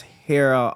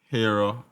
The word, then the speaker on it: Hera: name different brand name yeah um about that's Hera Optical hero Optical spell that h e r a optical h e